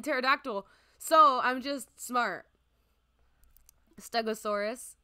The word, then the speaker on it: pterodactyl: Because the P is silent in pterodactyl.